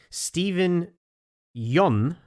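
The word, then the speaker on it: Steven Yeun: to pronounce it correctly stephen jun rhymes with fun not yoon not yuan not whatever mush you're saying so i'm absolutely putting my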